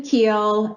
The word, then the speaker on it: Kuehl: years Cory that's okay it's keel and it's not a